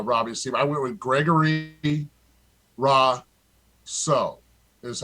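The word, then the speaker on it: Gregory Rousseau: mean for uh robbie's team i went with gregory raw so that's how you say his name 50.2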